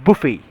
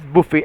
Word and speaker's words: buffet: No, this is called as a buffet. It is pronounced as buffet, and I know, as